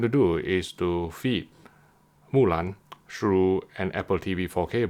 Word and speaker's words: Mulan: In this video, we are going to analyze the HDR presentation of Mulan on Disney+. In case you're wondering why I'm pronouncing in this manner, that's the correct Chinese pronunciation.